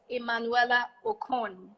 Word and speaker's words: Emmanuela Okon: That's her brand, and her name is Emanuela Ocon. Am I pronouncing that correctly? Yes, that's correct.